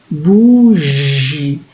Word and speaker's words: bougie: bourgi je vois que la lettre g elle est placée devant eux et donc elle se prononce bourgi donc il fallait mettre